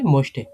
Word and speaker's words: möchte: এটা উচ্চারণ করতে গেলে যেখানে umlaut থাকে, umlaut থাকলে ঠোঁট একটু গোল করে, একটু লম্বা করে উচ্চারণ করতে হয়।